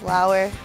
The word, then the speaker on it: Lauer: And then two, my last name is Lauer, and the way I pronounce it, it sounds like flower without the F.